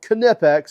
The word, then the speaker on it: Kipex: Yes, it's called Kipex is the correct pronunciation.